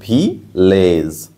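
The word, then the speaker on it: village: ভিসিবি মানে হচ্ছে এর উচ্চারণ কেমন হবে, এ, ওই জন্য ভিলেজ।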